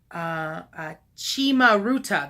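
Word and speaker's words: cimaruta: Chimaruta, that's how it's pronounced.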